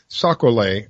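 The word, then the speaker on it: sac-a-lait: You know, he says they are called sacolé. I think that is the French pronunciation.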